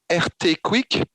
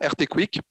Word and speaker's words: RT-QUIC: C'est ce qu'on appelle le RT-Quick. Donc ça s'écrit RT-QUIC, QUIC, pardon, RT-Quick.